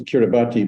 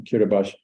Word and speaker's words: Kiribati: we come to kiribash I always thought it was Kiribati but apparently the locals pronouncing kiribash and you can see